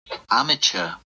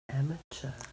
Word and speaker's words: amateur: James Hutton we get to hear James Hutton amateur amateure so two pronunciations I'm also England yeah in England so